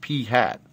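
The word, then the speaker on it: p̂: hat on top and it's actually pronounced P hat the hat indicates an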